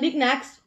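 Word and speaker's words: Knicknacks: knickknacks as you see germans don't use decay we don't swallow up letters we pronounce all the letters so it's knickknacks or it would be knickknacks if we had the k okay on it so nick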